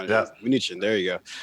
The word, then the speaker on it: Mnuchin: Mnuchin. There you go.